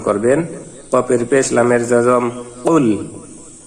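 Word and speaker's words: قُلْ: কুল কফের উচ্চারণটি জিহ্বার গোড়া তার বরাবর উপরে তালের সঙ্গে লাগিয়ে একটি আওয়াজ হবে, টাচ করে একটি আওয়াজ হবে কুল। এখানে যদি কফের মাখরাজ ঠিক না হয়, কফের স্থানে কাফ উচ্চারিত হয়ে যায়, তখনই অর্থের পরিবর্তন হবে এবং মারাত্মক অর্থগত পরিবর্তনের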